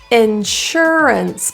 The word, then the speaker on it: insurance: your tongue lower Insurance the s-u-r is pronounced as an sh so give that little